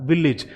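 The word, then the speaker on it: village: अगर इसी तरीके से कुछ और वर्ड्स आपसे पूछे जाते हैं जहाँ AGE एंडिंग हो, उसे आप लिखते हैं इज। इसकी एंडिंग को जो प्रोनाउंस करते हैं वो इज प्रोनाउंस करते हैं।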